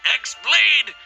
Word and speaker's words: X-Blade: Yeah, he means the X-Blade. It's just pronounced like Keyblade.